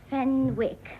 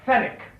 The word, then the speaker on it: Fenwick: Oh yes, Fenwick. Fenick. The W is silent.